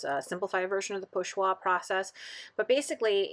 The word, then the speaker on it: pochoir: This is, I'm going to pronounce this terribly because I do not speak French, but I believe it's pochoir, which is something that Picasso